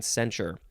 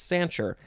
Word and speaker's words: censure: correctly uh sancher sancher maybe it was sancher i think i was saying censure it's sancher cell celadon celadine seal